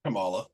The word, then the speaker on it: Kamala: or Kamala or Kamala how do you say say her name Camala Camala yes was like oh my